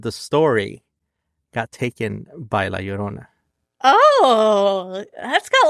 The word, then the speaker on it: La Llorona: Hopefully you can pronounce it now. Michelle, La Llorona.